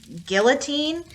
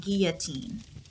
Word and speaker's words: guillotine: of people pronounce it guillotine the french when you put two l's together it makes a ya sound it's pronounced guillotine she was executed without